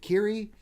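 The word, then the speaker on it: Qi'ra: because you have a character in is it kiri the the emilia clark query it was period like you in there somewhere I know it's pronounced Kari alright go anyway that character of a million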